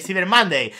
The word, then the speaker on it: Cyber Monday: English vale o sea hay dos tipos de pronunciación la española cutre o la inglesa Pro vale cber monday Pues en el cybermonday vale para